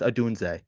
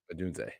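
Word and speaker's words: Odunze: in my opinion it's got to be Rome adun that's how it's pronounced adun adun yep you just you just made me a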